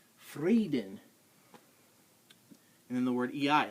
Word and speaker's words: Frieden: pronounced d d e when you see IE at all in German it's e like the word freeden it's not frieden and it's freeden and then the word